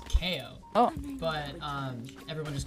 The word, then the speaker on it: Keeoh: It's technically actually pronounced Keeoh. Oh. But everyone just called me Keeoh, so I kind of just went with it.